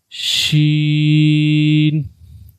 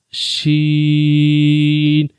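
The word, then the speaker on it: ش: So try to pronounce and say Jeem, Jeem, Sheen, Sheen, and the last one is Ja, Ja.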